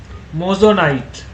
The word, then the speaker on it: moissanite: আরেকটা আমি material draw করছি, দিস ইজ কল্ড MOI, লিখে রাখতে পারো, MOISSANITE, কি বলে উচ্চারণটা? মোজোনাইট, আন্ডারস্ট্যান্ড?